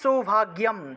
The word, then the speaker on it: সৌভাগ্যম: 13 নম্বর দেখুন, দেহি সৌভাগ্যম, দেহি সৌভাগ্যম, গয়ের সাথে জফলা থাকায় গিয় উচ্চারণ, দেহি সৌভাগ্যম আরোগ্যম, গয়ের